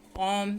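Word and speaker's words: comb: Wednesday, over, knife, कॉम, sign. Wednesday में D, over में H, knife में के, कॉम में बी, साइन में जी. साइलेंट है.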